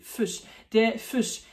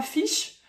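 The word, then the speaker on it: Fisch: Fuch. Attention, c'est pas fish euh avec un i très ouvert comme en français. C'est fuch presque un peu un u.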